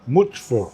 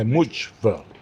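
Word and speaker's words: Mücver: How do you pronounce is it Mucver? How Which? Much? Yeah. Mucver. C is J in Turkish. Okay, Mucver.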